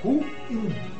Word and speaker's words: ruim: O vocábulo em questão é oxítono. É ruim.